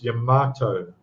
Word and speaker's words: Yamato: People pronounce it different. It's Yamato. Yamato.